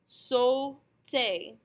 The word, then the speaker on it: sauté: A-U, which has to be pronounced O, and an E-R, which is pronounced A. Our S and our T we have no information about, and consonants are pretty much the same anyway, so they stay the same, and we can see that we should pronounce this word sauté.